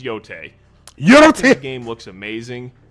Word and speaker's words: Yotei: I'm not well versed on Japanese regions and how to pronounce the names, but I think that's how it's pronounced, is Yotei.